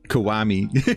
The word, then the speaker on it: Kiwami: So it makes me sound like I've got a speech impediment trying to pronounce Konami. But Konami? Kiwami.